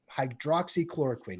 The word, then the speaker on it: hydroxychloroquine: Hydroxychloroquine. Hydroxychloroquine.